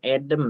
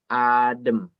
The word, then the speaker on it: adem: Kobe Maaf Benzema md02 Oke ini bukan edem ya tapi adem ya ya f1lq itu sekali lagi aku kasih tahu apa yang dituliskan itu yang dibaca Gilang A the mini lambang ini itu dibacanya seperti e-lang gitu kan gitu ya jadi adem di sini bacanya bukan Eden Oke terima kasih Yo